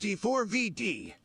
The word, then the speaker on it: D4vd: It's pronounced D4vd.